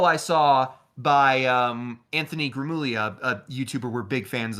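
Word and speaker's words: Gramuglia: saw by um Anthony Grimmullia, a YouTuber we're big fans of where You finally got his name right. You didn't pronounce the G.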